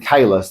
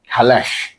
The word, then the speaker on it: Kahless: weird is they pronounce the Klingon like they pronounce the Klingon in Discovery. So, they say sort of saying Kahless, they say Khalesh.